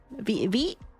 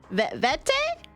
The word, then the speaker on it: Vete: How do I pronounce the first one? Vite? Did I pronounce that? Everyone clip farming. Everyone's clip farming for real, for real. No, you did not. Vete? Is it vete? There we go.